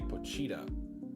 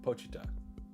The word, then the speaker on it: Pochita: I used to say Pocha, but apparently that's incorrect because I was rewatching the anime. So it's like Pochita. It's not like an emphasis on the cheetah.